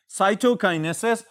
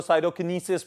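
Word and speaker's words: cytokinesis: Stage is known as साइटोकाइनेसिस, और इसको कुछ किताबों में या इसी तरह अगर प्रोनाउंस किया जाए तो साइटोकिनेसिस भी कहा जाता है।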